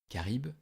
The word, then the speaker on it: Charybde: et des récifs dangereux karibe qui se prononce ainsi mais qui s'écrit sharif avec un y était la fille de